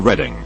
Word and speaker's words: Reading: UK dyslexia Association is situated in Reading pronounced redline underscore to those unaware also pronounced read on to those who are aware the u.s.